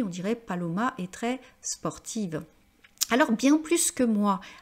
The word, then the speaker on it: sportive: dirait Paloma est très sportive alors bien plus que moi alors ici on va prononcer le S pourquoi parce qu'ici on a l'idée non pas que c'est négatif on va voir ensuite l'aspect